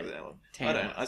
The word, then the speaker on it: Tamworth: So there's that, and then at the same time there's people from Tamworth pronounce it TEM. Yeah. It's people outside Tamworth say TAM. Tamworth. Like with Alan. Tamworth.